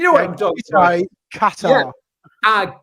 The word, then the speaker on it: Qatar: It's how I pronounce it. It sounds like a musical instrument, but you know what I'm talking about. Qatar. Yeah. Qatar.